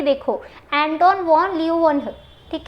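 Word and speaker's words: Leeuwenhoek: अभी आप इसको यहाँ पे एक बार प्रोनाउंस करो मेरे साथ और लिख के भी देखो, एंटोन वॉन ल्यूवेनहुक, ठीक है, ओके।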